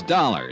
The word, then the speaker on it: Dollar: It's dollar. Johnny dollar. Dollar, huh? It rhymes with color.